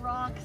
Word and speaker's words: Roch: Yeah, Roch. So it's pronounced like, you know, rock, like a rock.